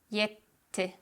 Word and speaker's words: yetti: In Turkish, we don't tap our double T's. Instead, we put a pause in between and we pronounce both T's very clearly.